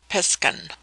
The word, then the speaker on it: Piscan: Pronounced piskan.